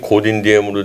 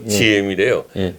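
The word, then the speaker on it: Ngô Đình Diệm: 남베트남 남쪽 베트남을 뭐 지금 우린 고딘디엠으로 되어 있는데 그 발음이 잘못됐답니다. GM이래요. 그걸 이제 가톨릭 신자 불교 국가의 가톨릭 신자를 세워가지고 그 신부들이 또 옆에 있고 뭐 그랬다고.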